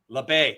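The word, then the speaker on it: Labbé: LeBay.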